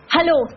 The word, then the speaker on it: Hallo: Hallo. Hallo. ¿Ah? Parecido al, al inglés.